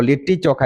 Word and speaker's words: लिट्टी चोखा: तो लिट्टी चोखा इसका प्रोनाउंसिएशन है।